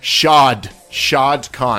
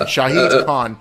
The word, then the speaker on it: Shahid Khan: Shad Khan. Shahid Khan. But his friends call him Shad.